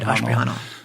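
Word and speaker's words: Ashprihanal: exactly right, Ashprahanal.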